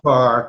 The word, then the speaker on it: Fahr: Pronounced far, but not spelled it.